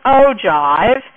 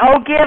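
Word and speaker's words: ogive: say the name right I've always pronounced it as an O Jive and I think that's so we're going to make an O some people call it an O give and I think that's not the correct transation I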